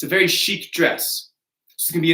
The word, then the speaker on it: chic: This is going to be chic.